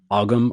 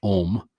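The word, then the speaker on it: Ogham: the Om, which is sometimes looked at as if it is pronounced Ogum or Ogum. It's pronounced Om, like Om.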